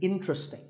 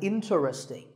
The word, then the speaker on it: interesting: word number 11 is interesting this is mispronounced sometimes as interesting but there are only three syllables in tree sting and the stress is on in so the word is interesting number 12 is hotel